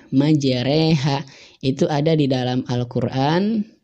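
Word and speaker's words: مجريها: Ro yang dibaca imalah di kalimat majreha. Nah, majreha. Nah ini bacanya ke majreha.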